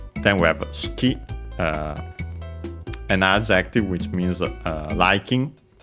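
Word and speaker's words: 好き: Then we have suki, an adjective which means liking, preferred, favorite, accent on the ki. On the final syllable. By the way, the U is barely heard if at all. Ski.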